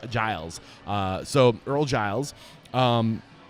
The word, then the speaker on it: Earl Giles: saying it correctly right ear Giles thank you very much I see the Gan it throws me off uh but it's a it's a Giles uh so Earl Giles